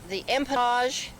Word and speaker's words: empennage: Now we're at the tail, or they call it the empennage, the French pronunciation, or empennage.